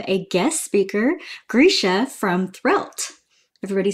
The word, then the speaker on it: Threlte: In case you didn't know how to pronounce it, it's Threlte, actually.